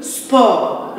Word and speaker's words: sport: Le sport. Le T est muet.